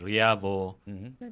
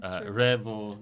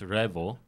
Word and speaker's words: REAVO: A lot of people pronounce it as Rio. Revo. No. Uh, it's really pronounced as Revo.